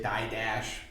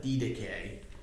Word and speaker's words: Didache: thing here the D that's the way you actually pronounce it in Greek most of us probably say die Dash but D deay is the way this